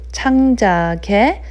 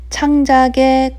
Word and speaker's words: 창작의: When 의 is in between two letters, it's pronounced as more like a yes sound.